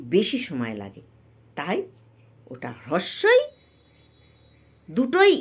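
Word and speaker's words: হ্রস্ব ই: সবসময় হ্রস ই বলবো তা থেকে আমরা বলি হস্ কিন্তু হস্ নয় হ্রস্বই তারপরেরটি কি দীর্ঘ ই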